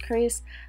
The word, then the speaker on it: Xrs: company called chris hair it looks like xrs but it is pronounced chris i absolutely love this